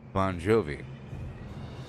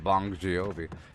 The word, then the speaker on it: Bongiovi: he bon jovi t it's probably pronounced bon jovi v-o-n-g i-o-v-i is probably pronounced bon jovi bon jovi it's not bong jiyovi it's bonjour with the